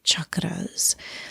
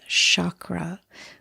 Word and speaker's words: chakra: refer to as the chakras. Sometimes you'll hear the word said as chakra, but the proper pronunciation is chakra. So, it's a hard c h and the r is rolled, and they are energy centers.